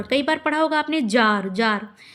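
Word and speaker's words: czar: बार पढ़ा होगा आपने जार। जार तो जार में सी होता है। ठीक है? तो रूस के सम्राट की एक पदवी है ये जार। तो सी जेड ए आर होता है उसकी स्पेलिंग्स।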